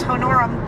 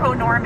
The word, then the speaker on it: honorum: You know, he's done the normal Roman cursus honorum, or honorum if you pronounce it properly.